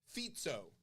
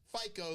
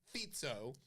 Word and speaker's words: Fico: minister of Slovakia Robert fito that's how you pronounce it it's not FICO like your credit score it's fito fito yeah spelled FICO